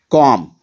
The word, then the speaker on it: Calm: Calm, here L remains silent.